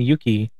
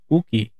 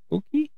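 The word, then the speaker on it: Yuqi: I've been saying Yuki, but it looks like that. But in the shows that I've been watching, they call her Uki, I think. So I think it's pronounced like that, Uki.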